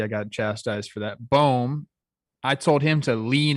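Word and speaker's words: Bohm: Boehm, I told him to lean into it and just play bad defense and bang like the rest of his team.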